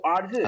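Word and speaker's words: 儿子: So Arzu. Arzu. நாக்க மடக்கி pronounce பண்ணுவாங்க. Arzu.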